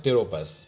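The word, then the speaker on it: Pteropus: और तीसरा फिगर जो देख पा रहे हैं ये जो है फ्लाइंग फॉक्स बोलते हैं इसको, या इसको दूसरा नाम है टेरोपस। पी से है स्पेलिंग।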